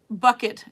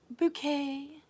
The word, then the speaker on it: Bucket: Bucket, says Raymond. It's pronounced bouquet.